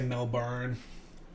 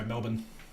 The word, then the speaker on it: Melbourne: say I love how you guys say melbour oh he's just go Melbourne but everywhere around it's not even just you guys even people from the UK say melbour melburn I that's literally how it's spelled but that's not how we say it we're just going to